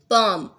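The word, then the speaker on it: palm: पाम, L pronounce नहीं होगा।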